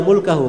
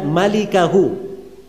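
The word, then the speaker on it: مالكه: Itu bukan bacanya illa mulkahu, memang mim lam kaf ha, tapi bukan mulkahu bacanya. Bacanya illa malikahu.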